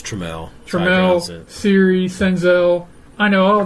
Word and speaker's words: Trammell: It's Trammell.